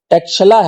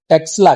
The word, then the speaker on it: ٹیکسلا: مختصر سا باب ہے، یہ تلفظ تو ٹیکشلا ہے لیکن آج کل ہم اس کو ٹیکسلا کہتے ہیں۔ ہم جب راولپنڈی سے